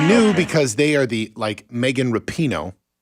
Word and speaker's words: Rapinoe: Yes, but you knew because they are Megan Rapinoe, how you properly pronounce it. I believe it's Rapinoe, is the one who has been all over the national media trash talking America in the worst ways.